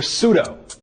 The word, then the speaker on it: pseudo: Believe it or not, the Greeks used to actually pronounce the P in pseudo and all other silent P words.